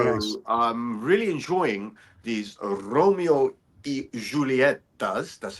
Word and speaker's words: Romeo y Julieta: I'm really enjoying these Romeo y Julietas. That's how it's pronounced.